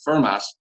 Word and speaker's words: Fermat: the occasion in which he told me that fermat would have pronounced the final t in his name given the era and part of france he grew up in at the 150th anniversary